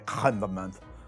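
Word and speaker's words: crème de menthe: To say it right, you have to ignore the great vowel shift, put that back at the back of your throat and say Créme De Menthe.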